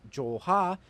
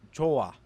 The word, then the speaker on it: 좋아: This means that this word, which should be pronounced joha, is pronounced joa.